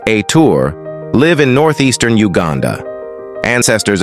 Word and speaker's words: Ethur: the th people pronounced aour live in northeastern Uganda